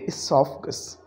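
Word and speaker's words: oesophagus: इसी तरह से हमने ओ ई को देखा और हमने कहा हम इसमें ओ को प्रोनाउंस नहीं करेंगे, हम इसका सिलेबल स्टार्ट करेंगे एसोफगस, एडिमा।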